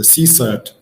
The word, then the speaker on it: CSIRT: So it's about with a CSIRT or SOC, that's how it's pronounced. For me, the first several months when I start using this word CSIRT, it sounded very strange to pronounce. I suggest everybody you to try to say CSIRT.